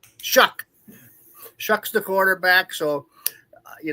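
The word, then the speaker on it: Shough: How do SL How do you pronounce his name again? Oh, Shuck. Shuck.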